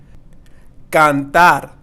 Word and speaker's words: cantar: Cantar. Cantar means to sing. Same thing here. We're not going to say cantar. No cantar. Pero cantar.